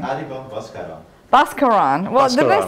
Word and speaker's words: Baskaran: Baskawar.